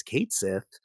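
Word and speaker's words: Cait Sith: something and said hey here's the official pronunciation it's Kate Sith and I think that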